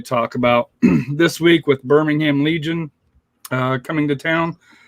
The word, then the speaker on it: Birmingham: as a side note it's pronounced birmingham birmingham okay there's no pork there birmingham okay i'll just